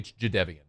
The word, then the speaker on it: Jadeveon: He was Jadeveon Clowney forever until he told everybody after we had been calling him Jadeveon Clowney for decades. It's actually Jadeveon. We're like, oh, cool. Neat. Thanks. We've been saying it wrong all the time.